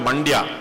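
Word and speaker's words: Mandya: Now how many of you I like I like using this example because it rhymes with India but there's a district between Karnataka between Bangalore and Mysore called Manda.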